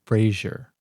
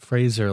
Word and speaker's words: Fraser: It's spelled like it's Frazer, but everybody pronounces it Frazier. Why is that? I pronounce it Fraser like a stubborn bastard, but maybe that's the wrong pronunciation.